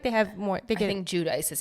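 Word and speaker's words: Giudice: to have an Italian accent, but I think Judice is the right way to say it. Judice. I feel like they have more. I think Judice is how the Americans say it.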